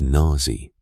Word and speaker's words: Nazi: When he pronounced Nazi as Nazi, rhyming it with a vulgar British slang term, and placing the emphasis on the hard Z, there was something in